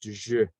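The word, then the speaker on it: Ж: going through it, and it's pronounced Je.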